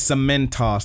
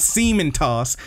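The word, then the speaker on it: Cementoss: my team on earth his name is some men toss that's how they say it they say it in this episode you sack of it's not semen toss he does not Stas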